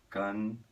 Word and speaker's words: cantan: Em espanhol, vai acabar com N. Cantan. E a pronúncia aqui no final seria... Acaba com a língua no céu da boca, bem pertinho dos dentes de cima ali, tá bom?